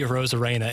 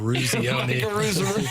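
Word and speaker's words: Eruzione: He tried pronouncing Randy Rosarena instead of Ruzioni.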